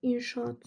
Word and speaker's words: inşaat: Daha sonra mesela inşaat sözünde. İnşaat. Burada da bakın inşaat. Bakın biri düşür, biri uzun telaffuz olunur.